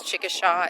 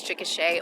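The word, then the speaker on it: Chickasha: The Tina Fe voiceover she mispronounces that name it's she says chicka sha it's chicka Oklahoma we just rolled back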